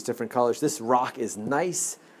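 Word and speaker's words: gneiss: This rock is nice. The name of the rock is Nice Silent G. That is how it's spelled. That's how it, and you pronounce it.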